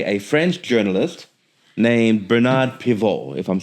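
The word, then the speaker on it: Pivot: Who was also inspired by a French journalist named Bernard Piv. if I'm saying that correct. I'm sure the T is silent.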